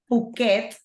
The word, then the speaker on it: Phuket: The pronunciation of this, I'm going to tell you how it is, okay? Because it's quite difficult, okay? So it's Phuket.